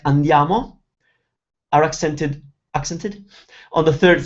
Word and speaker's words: andiamo: For example, some four-syllable words like andiamo are accented on the third syllable, like andiamo, but others like telefono, they have the accent on the second syllable, like telefono.